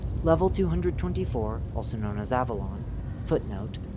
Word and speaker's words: Avelon: Description: Level 224, also known as Avelon, footnote, colloquially pronounced similar to the location of Arthurian legend, Avalon, end footnote, is a large mall, barren of any storefronts, signage, or functioning electricity.